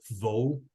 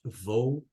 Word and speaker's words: thou: fugitive and Vagabond shout though be indeed Earth very good Oswaldo congratulations lots of new words in English one one that you repeat it's it's not though it's thou so remember that that